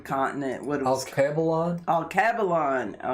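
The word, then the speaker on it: Alkebulan: of africa the continent what is kebalon oh cavallon how do you spell that land of the blacks a-l-k-e-b-u-l-a-n oldest name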